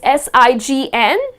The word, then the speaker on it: sign: So if you look at the spelling, it is S-I-G-N, but the letter G is silent, and the correct pronunciation of this word is sign.